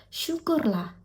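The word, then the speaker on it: syukurlah: 슈콜라 이게 발음이 조금 어려워 보이죠? 슈끌라.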